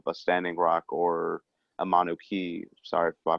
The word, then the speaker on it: Mauna Kea: When you bring up issues of a Standing Rock or a Mauna Kea, sorry if I pronounced that name wrong, or Mauna definitely Kea. Mauna Kea, thank you.